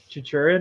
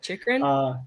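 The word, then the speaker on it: Chychrun: get traded at, I can't pronounce his last name, but I think you might Just butcher it. Go for it. Chichurin or whatever. I don't know how to say it, but Chikrin? Chikrin. Yeah. Chikrin? I Sure. think it's Chikrin, yeah.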